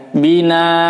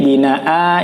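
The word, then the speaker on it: بِنَاءً: Al-Baqarah ayat 21 ini, kadang-kadang banyak yang membaca di sini dimatikan ya. Bina, karena dianggap ini tidak ada alifnya. Tapi secara tajwid ini binaa ini dibacanya mad iwad ya. Jadi dibaca panjang 1 harokat, maaf 2 harokat atau 1 alif ya.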